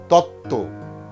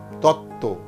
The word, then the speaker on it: তত্ত্ব: আবার বলছি যুক্ত ব্যঞ্জনবর্ণে যদি বফলা যুক্ত হয় তাহলে সেই বয়ের উচ্চারণ থাকে না। যেমন সান্ত্বনা, সান্ত্বনা, সান্ত্বনা। দ্বন্দ্ব, দ্বন্দ্ব। উজ্জ্বল, উজ্জ্বল, উজ্জ্বল। তত্ত্ব, তত্ত্ব।